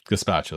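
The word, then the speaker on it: gazpacho: Gaspacho. That's the pronunciation.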